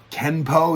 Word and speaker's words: Kenpo: it's pronounced both ways Kenpo is the American way chem Poe with an